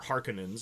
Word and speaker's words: Harkonnen: fleeing from the Harkonnens, or Harkonnens, as you pronounce it in the 2021 version of the film. I hate that. But okay, Harkonnen in the 1984 version, so that's how I'm going to say it.